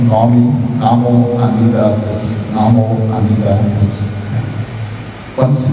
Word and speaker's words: Namo Amida Butsu: e recitamos o nome Namo Amida Butsu, Namo Amida Butsu. Quando se pega a prática dessa recitação, a pronúncia acaba sendo abreviada, eu falo Namanda, Namanda.